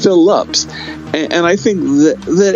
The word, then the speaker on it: Phillips: it because it's howard phillips lovecraft phillips is his mom's maiden name phillip uh like in cast the deadly spell it's not it's phillips and i think that